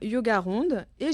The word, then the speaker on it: yogarond: dans ma bio Instagram yogarond et j'ai une chaîne Youtube également si vous voulez pratiquer yoga ronde c'est facile comme ça se prononce tout attaché merci beaucoup à bientôt